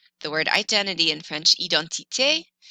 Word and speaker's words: identité: For example, identité has an accent aigu, and it happens on the letter E in French.